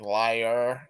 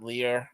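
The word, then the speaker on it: lyre: the one instrument like it's pronounced like liar like not Lear like l y r e it's pronounced like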